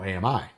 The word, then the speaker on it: AMI: I am firmly in the Ami has three syllables Camp um and then